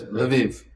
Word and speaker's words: Lviv: the Canadian devotees are are sponsoring devotees in Lviv if I pronounce yes leiv yes correct my poor notes um what are